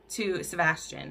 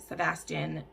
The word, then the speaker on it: Sebastian: But when some of his enemies find out about her, he sends Sebastian is how you say that, Sebastian, to get her.